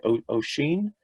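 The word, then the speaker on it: Oisín: I think Oisin, is that how you pronounce it?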